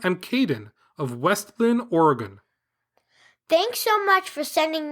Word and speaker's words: Oregon: Today, in your Bigfoot podcast, you, like most non-Oregonians, said Oregon. And when we hear that, we cringe. Smiley face emoji. The correct pronunciation is Oregon, with the emphasis on the first syllable.